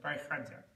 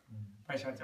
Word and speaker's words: Bhaisajya: Well, and I think, but the sha is more soft and gentle. Sha than ka. This sha? Well, sha. Sha, yeah. Sha. Okay, sha. It's a sha, it's a fluid sound.